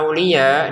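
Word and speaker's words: أولياء: Untuk kata auliya di sini kita panjangkan lima harakat lagi.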